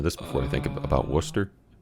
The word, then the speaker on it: Worcester: before I think about Worcester it's Worcester it's Worcester but like people not from around here call a Wooster yeah technically with the double O it should be woo but it's Worcester but